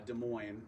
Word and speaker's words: Des Moines: i love it uh des moines yeah they're not hard asses they're not they're not hardest they're not zs either um so this has